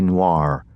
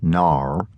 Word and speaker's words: noir: a Tennessee noir, which William pronounced Nar, where the worst sort of character comes to town.